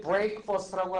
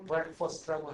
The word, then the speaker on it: breakfast: 근데 breakfast라고 하지 않고 발음을 breakfast라고 하죠.